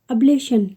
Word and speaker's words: ablation: ABLATION अब्लेशन। क्या है? अब्लेशन।